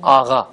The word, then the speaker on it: آقا: لیے پڑھ دیتا ہوں۔ آقا لکھتے ہیں، اور میں پہلے ہی بتا چکا ہوں کہ اسے پڑھتے ہیں آغا، آغایان یعنی حضرات۔ دانشجو، دانشجویان یعنی طالب علم، زیادہ طالب علم.